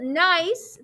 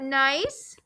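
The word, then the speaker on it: gneiss: are your choices you have a rock called nice the g is silent it is so we've got nice then you've got um something called slate that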